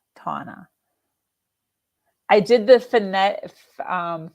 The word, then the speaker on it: Tana: mispronounced it again tana it's tauna not tanya tana i did the finnet